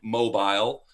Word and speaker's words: Mobile: It was a place called Mobile, Alabama. Uh, it's spelled like mobile.